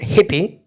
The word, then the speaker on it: Hippie: I would send you to Hippie. Hippie. Hippie. That's Yeah. how it's spelled.